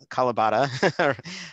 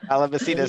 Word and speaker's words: Calabacita: I wanted to go on to, there was something about improvising, and I seeing Mark's wonderful friend, Calabata, I'm not really pronouncing Calabacita. Calabacita.